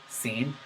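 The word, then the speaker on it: س: type on my part the scene is pronounced from the tongue it is a tongue letter not a throat letter please so I might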